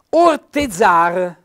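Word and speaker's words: ortezar: anche in italiano netto orte zar con l'accento tonico sulla a coltivare l'orto rebut accento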